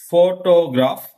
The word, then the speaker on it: photograph: Observe, look at this three words. Photograph, photographer, photographic. Okay. Observe the stress mark. Here, stress mark is in first syllable at the beginning of this one, for P.